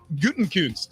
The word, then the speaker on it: Gutekunst: Gutekunst. I think there's a sneaky I in there that's not listed, but they pronounce it with the I.